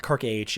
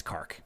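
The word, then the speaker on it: K'arkh: it but of course now we all know it's it's Clark it's not Kirk age it's not her och it's not car or car or Kraken it's it's Clark but you know he'll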